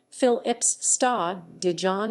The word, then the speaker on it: Philips Stadion: stadion the phillips stadium dutch pronunciation phil ips star dijon is a football stadium